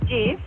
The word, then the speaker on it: GIF: GIF is pronounced GIF. What? As in giraffe.